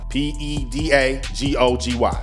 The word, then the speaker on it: pedagogy: was searching for graduate programs it's called pedagogy p e d a g o g y pedagogy and that means basically the whole curriculum